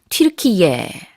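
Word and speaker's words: Türkiye: 로 변경했습니다 4 이젠 그래서 터키가 아니라 튈 키에 라고 해야 될 것 같은데요 아 이제 우리 말로는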